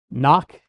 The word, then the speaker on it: knock: Knock. Is that n o k? n o c k? No, no, no. No, it's got a k in front of it. The k is silent.